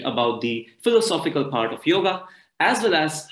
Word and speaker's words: योग: come there to learn yoga and so i realized that many people have a lot of misconceptions what actually yoga is or even the way it is pronounced it's actually yog and not yoga many most of us